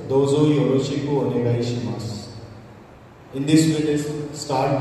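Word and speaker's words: します: Because in Japanese the last SU is pronounced S. So that's why it is shimasu.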